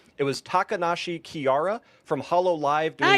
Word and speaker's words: Takanashi Kiara: ended video, and I apologize because I'm going to say this name wrong. It was Takanashi Kiara from Hololive Hey, you got it, bro.